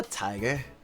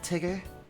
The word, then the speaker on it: Tigger: Are you a tiger? Actually, it's pronounced Tigger.